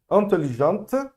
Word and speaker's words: intelligente: Intelligente, morre no T, apesar de ter o E não é pronunciado, só vou pronunciar o T antes, ok?